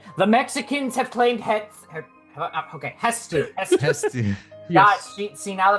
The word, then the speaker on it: Hestu: Hetsu. Hetsu. It's Japanese het and then su. Oh, Hetsu. Okay, because it's Hestu. No, TSU. It's Hestu, my guy. Is Hestu?